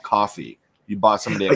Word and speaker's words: Ko-fi: Yeah, Ko-Fi it's actually called coffee. You bought somebody a yeah, coffee. I think it is pronounced coffee.